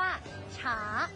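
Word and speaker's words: 茶: ว่า ชา นะ คะ ภาษา จีน เรา จะ เรียก ว่า ฉา ฉา ออก เสียง คล้าย กับ คำ ว่า ชา ใน ภาษา ไทย เลย นะ คะ ชา ชา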